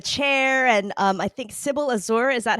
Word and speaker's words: Azur: him in the chair, and I think Sybil Azur, is that how I pronounce her Yes, name? Azor, yeah.